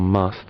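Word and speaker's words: musth: Now if he was in something called must, which is a sexually active period where he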